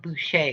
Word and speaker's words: Boucher: the market value for boucher boucher boucher it's french so you have to say you know say it like that but what do y'all